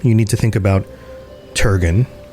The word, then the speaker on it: Turgon: And when you think of the city of Gondolin, you need to think about Turgon or Turgin, if I'm going to pronounce it correctly.